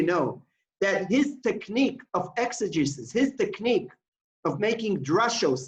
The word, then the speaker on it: exegesis: I'm not sure I'm pronouncing it correctly. Unmute yourself, Gabe. Unmute yourself. Exegesis. Yeah. Exegesis.